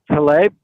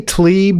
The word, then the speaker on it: Tlaib: Well, I was calling about, the comment that Rashid Tlaib, is that how you pronounce her name? I say Tlaib now. I used to say Tlaib, but now I'm sort of soft pedaling that and saying Tlaib because that Tlaib?